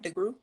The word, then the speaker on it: DeGruy: DeGruy?